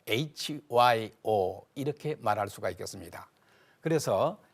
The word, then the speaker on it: 효: 이렇게 말할 수도 있지만은 한국식 발음 그대로 교 hyo hyo 무슨 약자 하면은 한번